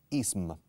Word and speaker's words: ism: Sin embargo, cuando lo pronunciamos, es como si hubiera claramente una letra A entre la S y la M final.